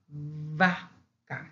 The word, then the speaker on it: vaca: Now here is not bilabial. Here is labial dental. Why? Because linguistically, there's a difference between the first one of the burro donkey and this one of a cow. We say vaca.